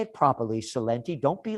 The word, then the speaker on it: Celente: But you have to say it properly, Celente.